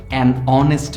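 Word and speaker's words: honest: একটু আগাই হর্স কিন্তু অনেস্ট ম্যান এইচ দিয়ে অনেস্ট শুরু হওয়া সত্ত্বেও আমরা কিন্তু সেখানেতে এন বসিয়েছি কেন কারণ এর উচ্চারণটা ভাওয়েল সাউন্ডের মত অনেস্ট এখানে এইচ টা সাইলেন্ট আছে এবং সেই কারণটাতেই কিন্তু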